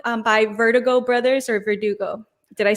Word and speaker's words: VRDGO: shorter name just ver verdugo like our last name yeah but but i noticed a lot of people i'm glad you asked because a lot of people are saying vertigo lately so that's okay